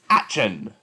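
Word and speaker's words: Aschen: blaze fall to blaze action fanat pronounced like ashen comes from the brothers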